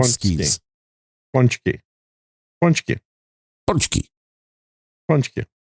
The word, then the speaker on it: pączki: pole skis like the p p skis punch Punchy Punchy Punchy say Punchy with us everybody it